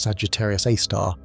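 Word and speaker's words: Sagittarius A*: It is a super massive black hole called Sagittarius A, pronounced Sagittarius A star.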